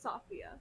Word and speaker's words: Sophia: Is that how you pronounce it? Safia. No, I'm just joking. You're good. It's Sophia, but you're good.